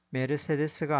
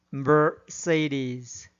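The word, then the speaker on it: Mercedes: 주어진 단어의 경우에도 인디애나폴리스가 아니라 인디애나폴리스, 사우디아라비아가 아니라 사우디아라비아, 암스테르담이 아니라 엠스터담, 리오데자네이로가 아니라 리오데자네이로, 소크라테스가 아니라 사크라테스, 오아시스가 아니라 오에이시스, 메르세데스가 아니라 머세디스로 발음해야 합니다.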